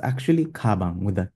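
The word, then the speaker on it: 가방: A backpack in Korean is kabang with like a K-like sound. We don't say gabang with a G sound.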